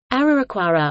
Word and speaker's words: Araraquara: our acquara Portuguese pronunciation our choir or our our choir is